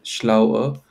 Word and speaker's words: schlauer: there and man, this part, make sure you pronounce it, you emphasize the ending. Okay, so this will Okay. be schlauer, this will be Mm, schlauer, this will be